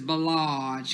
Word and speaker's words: Bellage: a long way and the way you pronounce it is bellage because i know you'll be like mary j blige it's called bellage